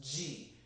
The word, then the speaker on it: Chi: Chico his energy but the Chi from Tai Chi is actually pronounced G we all pronounce it wrong it's okay that's just